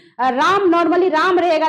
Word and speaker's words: रामः: तो इसको हम पढ़ेंगे राम, इसमें ये विसर्ग लग गया तब पढ़ेंगे रामः, यानी अंतिम में क्या आना चाहिए, ह आना चाहिए। इस तरह से उच्चारण होगा।